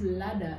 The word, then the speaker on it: ladder: Is it leather or ladder? Mm-hmm. Not leather, ela ya, leather jacket. You're not telling leather. That's no. How you pronounce it. But it's ladder.